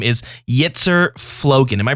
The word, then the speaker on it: Yitzer Flogan: in-game name and your content creator name is Yeetszer Floan. Am I pronouncing that properly?